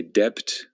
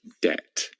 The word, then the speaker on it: debt: I'm not exactly sure why it has a B in it, because that B is completely silent. We do not say debt, we just say debt.